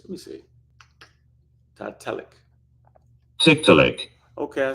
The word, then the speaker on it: Tiktaalik: I think that might be a better pronunciation. Let me see. Tiktaalik. Tiktaalik.